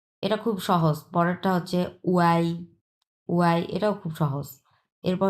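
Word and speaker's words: ui: যেটা দেওয়া আছে উই এটার উচ্চারণ হবে এটা উই হুম এটার উচ্চারণ হবে যে এটা উই বাট লেখা থাকবে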